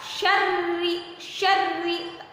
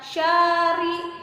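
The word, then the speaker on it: شَرِّ: Tahan, syarri, jangan bacanya syari, jangan seperti itu, tapi syarri ya, ditahan.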